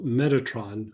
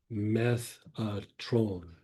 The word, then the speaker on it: Metatron: There's the archangel Metatron, which is not really the proper way to say it. Like the proper way to say it is Methatron, which means beyond the throne of God or behind the throne of God.